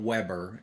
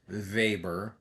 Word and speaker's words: Weber: about Marx vber uh that's not Weber his name is pronounced vber like VA b r vber Max vber and the